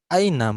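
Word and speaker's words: أين: Kalau hamzahnya diganti sama ain, aina. Mata.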